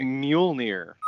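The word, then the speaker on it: Mjölnir: help me what is the hammer's name you pronounced it correctly uh it is mule near mjolnir thank you so obviously he wields the enchanted hammer mule near uh thor first appeared in journey into mystery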